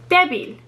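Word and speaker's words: débil: very good and then we have our last word here debbie which means weak this breaks rule two because the stress is on the first syllable we see the accent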